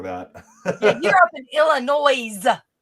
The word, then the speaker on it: Illinois: Yeah, you're up in Illinois. Hey, the S is silent.